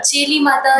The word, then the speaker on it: चेली माता: चेली माता मैं शायद सही प्रोनाउंस ना कर आप बिल्कुल सही प्रोनाउंस कर रहे हैं चिराग जी। चेली माता ही कहते हैं।